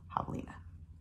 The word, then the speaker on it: javelina: you may not have even understood how to pronounce it or what it says i've got it written down right here javelina jovelina and i've made videos of them so you